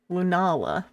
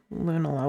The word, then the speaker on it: Lunala: I think I need to Lunala. So, it's it's like it's it's it's Nala from The Lion King. You pronounce it like Nala from the Lion King.